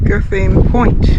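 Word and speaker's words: Gantheaume Point: How do you say the name of this place, Ruth? Do you know? Guthine Point. Guthine Point. It's got a funny spelling.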